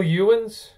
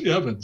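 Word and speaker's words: Ewens: been at caltech michael ewans evans you mean michael evans oh is it the the the the w was pronounced right uh yeah that's that's a welsh name according to him is pronounced evans okay guys pronounce you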